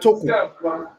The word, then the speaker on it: Toko: Toko. Did I pronounce it well?